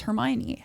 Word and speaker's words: Hermione: Goblet of Fire uh Hermione explains to Victor Crum how to pronounce her name because I think too many people didn't know how to say Hermione I was fully ostracized in school because I was the only one saying it's Hermione and everyone went no